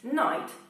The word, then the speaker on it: Knight: Knight, czyli rycerz. He, wymawiany dokładnie tak samo jak noc. Żeby pomóc trochę głowie, można sobie te wyrazy składać w jakieś śmieszne ciągi, w jakieś śmieszne zdania.